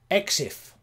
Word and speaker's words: EXIF: EXIF. That's one way of pronouncing it. Most people pronounce it like that.